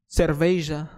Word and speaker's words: cerveja: Hey, cerveja. That's how you say it in Portuguese.